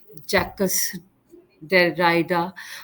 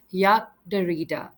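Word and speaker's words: Jacques Derrida: the next one is you might call him jackass their Rider however in French it is pronounced as Yak darita so he is a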